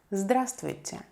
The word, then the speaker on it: Здравствуйте: Здравствуйте. Здравствуйте. Hello. We don't pronounce the first letter right here.